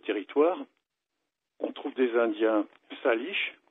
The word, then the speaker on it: Salish: Sur ce vaste territoire, on trouve des Indiens Salish, ça s'écrit S-A-L-I-S-H.